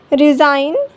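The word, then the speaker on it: resign: फॉरेन, नाउ, नेट, साइन, align, रिज़ाइन। L silent, L कब silent होता है?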